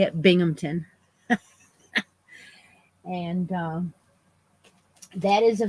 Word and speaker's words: Binghamton: is Binghamton and that's how you say it Binghamton and um that is a video it is